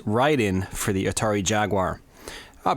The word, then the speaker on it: Raiden: running through Raiden or as it's uh properly pronounced ryen for the Atari Jaguar I'll be uh pronouncing it as Raiden though just because that's kind of what I'm